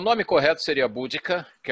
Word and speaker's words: Boudica: vídeos falando, só que uns utilizam Boadicea e outros Boudica. A rigor, parece que esse aqui, Boudica, seria a grafia e a pronúncia correta, né?